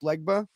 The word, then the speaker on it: Legba: great um I particularly like the parts with legba is that am I pronouncing that right yeah okay yeah I and